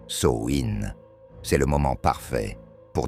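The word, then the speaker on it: Samhain: Et si vous ne connaissez pas encore Samhein, prononcer Souin, c'est le moment parfait pour découvrir cette célébration ancestrale.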